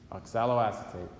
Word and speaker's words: oxaloacetate: molecule called oxaloacetate okay this is a big long word lots of syllables but you could say acetate right I guess you can alright what do you say acetate and then it just has ox a low on the beginning oxaloacetate okay there are four